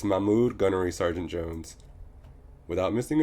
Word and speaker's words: Mahmoud: However, it was clear that his name was too foreign for my American self to be able to pronounce properly. It's Mahmoud, Gunnery Sergeant Jones.